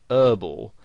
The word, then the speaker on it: herbal: so they pronounce it herbal now you might find somebody actually spells it that way herbal essences because that's how they would pronounce it whereas in british english you would pronounce the h and you'd say herbal